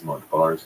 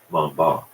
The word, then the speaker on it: Montbars: to point out that Daniel Montbars did not pronounce his name that way. He was French, after all. His last name was pronounced something a little closer to Montbard, but in the interest